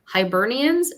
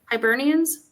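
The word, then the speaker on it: Hibernians: Hernians. If anyone's involved, feel free to correct me. Do you know Hiburnians sounds like an animal that's sleeping for the winter.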